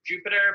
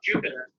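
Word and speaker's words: Jupyter: all these and last one is called Jupiter but spelled with a py because you know there's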